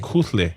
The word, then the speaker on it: Kuhle: Like you gotta let a breath out.